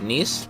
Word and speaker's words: Nice: theater municipal an opera house in nice france nice nice neat oh it's spelt nice though i didn't know that uh